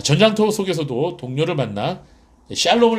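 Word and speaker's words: שלום: 에 평화 란 뜻이죠 이스라엘 발로 표와 정확한 발음은 셜록 이에요 액션 럼 샬롬 이스라엘 2 으 아 야외에 cro 평강의 하나님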